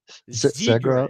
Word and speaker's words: Zegras: Zegras.